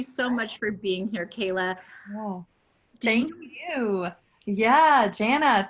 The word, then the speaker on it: Kela: Am I saying it right, Kela? Kela.